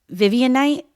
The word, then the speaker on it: Vivianite: Is this pronounced Vivian Night? No, you guys are looking at me like, huh? Okay, you know what I'm saying? Spell it for me. Vivianite? Yeah. Vivian Night? Yeah.